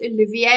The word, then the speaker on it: Oliviera: friend and brother John Olivier now I said Oliver and he said it's French you pronounce it Olivier and I thought my goodness that is such